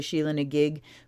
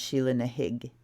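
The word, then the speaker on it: Sheela na gig: a gig opening now I've heard an Irish person say shilling a gig but I've also read that it's pronounced shilling a hIgG as far as Gaelic goes thank you lady Crone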